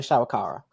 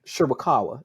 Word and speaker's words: Shirakawa: And you also have Tony Storm, Mariah May, and Mariah's tag team partner from Stardom, Mina Shawakawa. Ooh, Mhm. Shirakawa. That's how you say it.